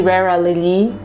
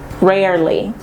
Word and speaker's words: rarely: This one we have rarely. There is an E here and most people do not pronounce it. We don't say rarely, it's not a thing. Rarely.